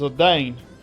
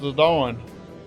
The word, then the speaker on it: Zidane: His name looks like it should be pronounced as Zidane, which is exactly what most people call him. However, thanks to the Cydia, we know his name is actually pronounced Zidane.